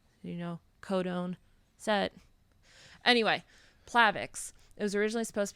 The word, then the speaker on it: Plavix: supposed to be pronounced Plavix because it sounds like platelet that's how it works